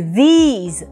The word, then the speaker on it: these: А в слове these – долгий «и», как в слове sheet по-русски, например, и на конце «з» – these.